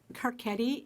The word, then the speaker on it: Carchedi: My name is Carcetti, and it's spelled Carchedi.